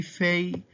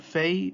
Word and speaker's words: Fei: It's pronounced like an English letter F. So if you see Fei or Fi in a Coptic word, basically think of yourself seeing an English letter F.